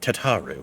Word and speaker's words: Tataru: also introduce you to tataro our clerk tar she ensures that everything runs smoothly they would go on to start pronouncing it tataru please to make your